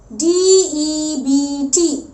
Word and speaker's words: debt: Whenever we see a T after B, हम B के बाद